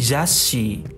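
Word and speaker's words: ざっし: Jadi zashi. Zashi. Artinya ini. Jadi dari za ke S-nya itu ditekan Minasan.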